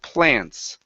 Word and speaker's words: plants: word here is plants pronounce the P instead of Lance it's PL plants plant plant okay now